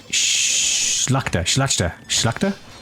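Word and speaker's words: Szlachta: Oh, LTC in my chat says the SZ is pronounced like the English SH. So, Schlachta.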